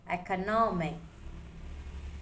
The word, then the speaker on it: economic: Economic. The stress is on no, economy.